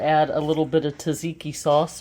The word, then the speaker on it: tzatziki: Then we are going to add a little bit of tzatziki sauce, or as Chloe says it's pronounced, tzatziki. Tzatziki. She's always correcting me.